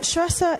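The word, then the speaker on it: Saoirse: you can alleviate some of the suffering and truster is spelled s-a-o-i-r-s-e yeah thank you very much thank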